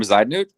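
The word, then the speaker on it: Bezuidenhout: So we're going to go Jason Day to Bezahunda Huta. Christian Bezaidnut?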